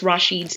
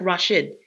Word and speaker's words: Rashid: you kind of mispronounced Rashid's name. Yes, and then my you went apologies. back. No, it's okay because, when you see the spelling, it's like Rashid, but it's pronounced Rashid.